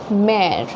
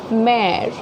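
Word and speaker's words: mère: letter, this word as mare, okay. So you see, when we pronounce it mare, the first E has a very prominent sound, but the last E does not have a prominent sound, okay, mare.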